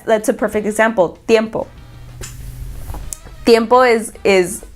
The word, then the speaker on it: tiempo: a perfect example dimple tiempo is is there's a T in it but we don't pronounce we don't pronounce it like a T we pronounce it like